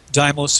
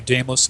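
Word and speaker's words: Deimos: um other moons uh depending on how you want to pronounce it whether the Greek or the modern language uh doos and Phobos or damos and Phobos of Mars have no atmospheres they're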